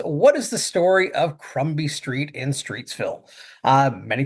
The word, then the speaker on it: Crumbie: And that is spelled C R U M B I E Crumby Street. Sometimes the name Crumbi is is uh spelled alternatively as Crombi with an O instead of a U.